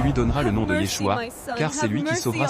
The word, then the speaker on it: Yeshua: Le nom que nous connaissons Jésus provient du Grec Yesou qui était l'effort des Grecs pour translitérer la prononciation hébraïque Yeshua.